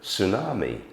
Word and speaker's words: tsunami: to the original language let's take for instance the word tsunami um clearly not an English word I think it comes from Japan um Japanese language um and we try to stay true to it and so we end up with a spelling that um has a t followed by an S um but